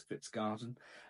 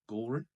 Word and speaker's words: Kvistgaarden: In regards to incomings, we've obviously done loads of videos on Matas Fitzg Garden. Uh turns out pronunciation was slightly wrong. It is Fitzgen. So, um we'll change that from now on.